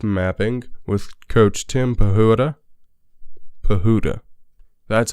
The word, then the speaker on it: Pahuta: baseball and life mapping with coach Tim pehota bahudha that's how you pronounce it all right so let's send it